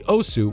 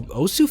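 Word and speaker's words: osu!: is about irrelevant similarly OSU which by the way apparently is pronounced OS but I don't get that how can you be silent anyway OSU is a game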